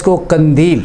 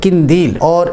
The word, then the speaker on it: قندیل: ہے: "قافلہ"۔ اسی طرح لفظ "قندیل" (لالٹین) کا تلفظ اکثر فتح کے ساتھ کیا جاتا ہے جو کہ غلط ہے۔ اس کا تلفظ 'ق' کے نیچے کسرہ کے ساتھ ہونا چاہیے: "قندیل"۔ اسی طرح، ہم اکثر